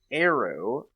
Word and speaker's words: Aero: today we are going to be talking about arrow volume one and two not to be confused